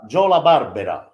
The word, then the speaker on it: La Barbera: made Oliver Berra yeah that is the correct Jolla Barbera you know LaBarbara is the correct pronunciation but of course like many families that